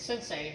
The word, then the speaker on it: sensei: word and it's sit say but it's actually pronounced like it's sensei all one word but it's pronounced like sin